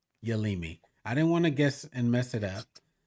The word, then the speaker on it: Yealimi: Did you catch how to pronounce No's first name? Yealimi. Yealimi.